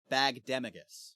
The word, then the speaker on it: Bagdemagus: No, we were both wrong, because it's pronounced Bagdemagus.